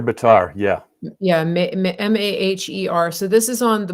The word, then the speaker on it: Maher: How do you pronounce it? Mayor Bitar, yeah. Yeah, Maher.